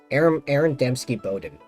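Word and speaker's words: Aaron Dembski-Bowden: Aaron Doutsky Bowden, something like that. ABD, the guy that wrote the Black Legion books. That's what I remember. Aaron Dembski Bowden.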